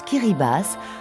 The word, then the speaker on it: Kiribati: Les Kiribati, qu'on prononce Kiribati, ce sont 33 îles et atolls qui affleurent à seulement quelques mètres au-dessus du Pacifique.